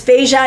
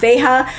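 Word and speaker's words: Veja: for correcting my pronunciation it's beija not Vega which always felt awkward so anyway the beija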